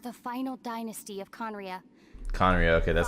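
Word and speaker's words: Khaenri'ah: royal guards of the final dynasty of conria conray okay that's how you pronounce it he failed to prevent the destruction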